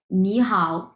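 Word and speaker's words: 你好: আয়ত্ত করতে পারবেন আচ্ছা দেখেন এখানে দেওয়া আছে নি হাও এখন এই নি এটা হচ্ছে তিন নাম্বার টন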